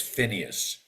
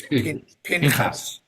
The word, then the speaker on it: Pinchas: We can't pronounce his name as Phineas. It's Pinchas. You Pinchas. Pinchas. can't have a Pinchas. Hebrew word. A Hebrew word cannot begin with an F sound.